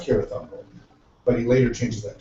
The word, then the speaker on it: Cirith Ungol: Interesting spells Cirith here with K instead of a C, which later Isn't it, is it it's pronounced Cirith Ungol, but he later changes that to a He C.